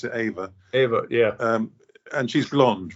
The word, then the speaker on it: Eva: It's written Eva, but they pronounce it Ava. Ava, yeah.